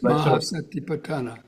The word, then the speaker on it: Mahā Satipaṭṭhāna: Mahā Satipaṭṭhāna Sutta which Yes, Mahā Satipaṭṭhāna.